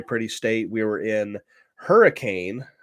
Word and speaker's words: Hurricane: State we were in Hurricane I think it's pronounced hurricane might be hurani I don't know somebody